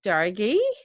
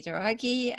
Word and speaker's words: Douraghy: So today I have a special guest, Katty, Douraghy. Did I Hello.